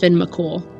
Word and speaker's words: Fionn Mac Cumhaill: His name is pronounced Finn McCool.